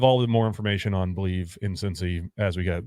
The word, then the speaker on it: Bleav: It's Believe in Cincy, BLEAV in Cincy.